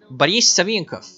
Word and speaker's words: Boris Savinkov: But like the problem with Russia and the doctor is that whenever a syllable with O is not emphasized, you're supposed to pronounce it like ah. So like for example, Boris Savinkov.